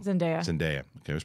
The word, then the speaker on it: Zendaya: And Zendaya, did I always pronounce it wrong? Zendaya.